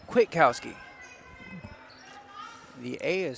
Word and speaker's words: Kwiatkowski: It's Kwiatkowski. The A is silent.